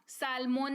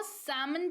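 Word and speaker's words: salmon: rule follow हो गया सालमन नहीं इसको समान पढ़ेंगे एक तरह की मछली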